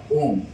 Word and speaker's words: ওম: আমরা উচ্চারণ করব অ উ ম, অ এর পর উ বসলে উভয় মিলে ও হয়ে যায়, তাই উচ্চারণটা ওম।